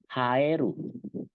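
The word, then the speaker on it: 生える: Nah, ini haeru. Lihat okurigananya berbeda ya. Jiru, eru. Cara bacanya juga beda. Namanya sendiri jadi sho kalau kalau okurigananya jiru. Tapi kalau okurigananya eru dia cara bacanya jadi ha gitu ya.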